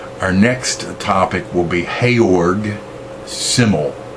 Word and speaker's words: Georg: next topic will be heyorg symbol his name's pronounce hey org a hayork symbol and it's written like George simmel but Taylor symbol